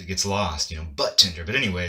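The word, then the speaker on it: budtender: Like usually when a D comes before a T, the D is silent.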